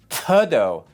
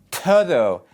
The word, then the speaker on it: todo: Ok, la T es una letra sin aire. No es todo, todo, taco. You can think of it as a sound between the English T and D.